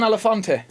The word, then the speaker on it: Elefante: All right, I've got John Elefante. Have I pronounced that right, or is it more Italiano? No, you got it right. Elefante. It is Italiano.